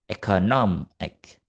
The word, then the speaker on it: economic: The stress moves significantly from the second syllable, economy, to the syllable before ik, economic.